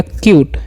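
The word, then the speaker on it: cute: से तो हो गया क्यूट, है ना। ई का उच्चारण नहीं करना है क्योंकि जब भी किसी वर्ड में दो वोवेल रहेगा तो पहले वाले वोवेल का उच्चारण करना है।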